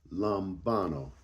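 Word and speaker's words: λαμβάνω: In the Greek, it means um it's pronounced lumbano. Lambano.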